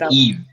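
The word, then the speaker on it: Yves: I don't want it it's eve it's pretty easy Eve Eve yes it's wonderful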